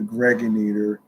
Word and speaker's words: Gregonator: I'm your man G Money Stacks, aka the Gregonator, rhymes with generator.